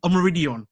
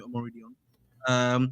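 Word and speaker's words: Omorodion: Samu Omo, how to say this? Omoridion. That's how you say it, I think.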